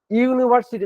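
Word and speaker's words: university: কিন্তু এক্ষেত্রে তুমি এন বসবে না কেন বসবা ইউনিভার্সিটি দেখো উচ্চারণটা কি দেখো ইউ পাচ্ছি তো ইউনিভার্সিটি ইউ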